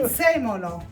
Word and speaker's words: prezzemolo: Prezzemolo. Prezzemolo?